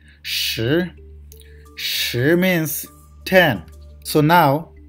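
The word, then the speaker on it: 十: Then shi, shi, there is rising tone, second tone. So we need to pronounce like shi, shi, shi.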